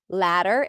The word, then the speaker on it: latter: The second of the 2, or the last one of the 2, L-A-T-T-E-R, ladder, and also L-A-D-D-E-R. They sound exactly the same, a as in cat and a flap T.